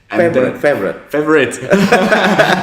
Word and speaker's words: FAVORIOT: Don't pronounce with the spelling. The spelling. Forget about the spelling. Just pronounce it. But the spelling is quite cool because it ends with the IoT. So that's why it's called favorite.